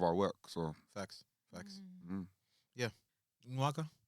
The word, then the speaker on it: Nwaka: Yeah, Nwaka, did I say it right? Yeah, I actually like the way you pronounce it.